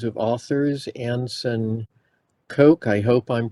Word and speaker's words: Koch: and I have three names of authors Anson Coke I hope I'm pronouncing that correctly uh Hannah cherry and Cameron Hines so my name is Anson cook and I'll be presenting with uh Hannah Cherry